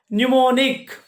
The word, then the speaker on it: mnemonic: Mnemonic. Here the word starts with M letter, but there is no sound of M.